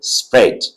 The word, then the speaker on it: spread: But here it is not. It is for vowel number three. And how do you make vowel number three? E. So how do you pronounce this word? Spread. Oh, did you get that? And not spread.